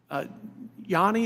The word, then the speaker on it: Yanni: Dr. Yanni, is that how you say it? Yes. Do you think it's a